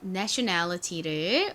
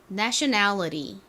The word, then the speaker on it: nationality: 외워진 다음에 국적이라는 의미의 nationality를 외워주시면 됩니다. 발음 한번 따라해 볼까요? 미국식으로 T를 리을처럼 발음해서 먼저 한번 해볼게요. nationality. 좀 어렵죠? 한 번 더 해볼까요? nationality. 이번에는 좀 더 쉽게 T 소리를 살려서 해보겠습니다.